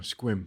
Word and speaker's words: Sequim: was Indian I didn't know it's quim yeah squib it looks like Sequim well anyway well then no you would a hundred out of a hundred would pronounce its sequel or sequin yeah or Sequim or something until they found